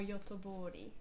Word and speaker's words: Göteborg: How do you pronounce the name of that town? Gothenburg or Göteborg.